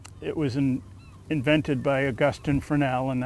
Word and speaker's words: Fresnel: And the Fresnel lens that we have now, it was invented by Augustin Fresnel, and that's why we don't pronounce the S, because he was French.